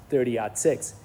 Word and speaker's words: 30-06: So, when you write it out, it's actually 30-06. But the correct way to say it is 30 odd six.